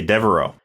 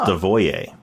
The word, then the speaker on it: Devereaux: And he reveals that everybody mispronounces his name. They say Devereaux. It's actually pronounced Devoyer.